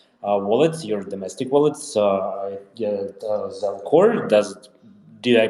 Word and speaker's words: Zelcore: Yeah, Zelcore. Did I pronounce it right?